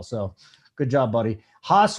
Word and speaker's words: Haas: Haas rhymes with Voss.